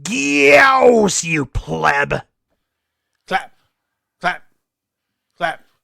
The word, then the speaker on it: Gyaos: It's pronounced Gyaos, you pleb.